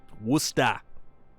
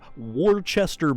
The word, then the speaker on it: Worcester: the palladium and worcester wusta although if you ever hear someone trying to pronounce worcester it is absolutely not pronounced how it's spelled so it is actually